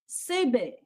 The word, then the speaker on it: Senbei: The answer we were looking for, guys, was sebe. It's spelled Senbei. Sebe.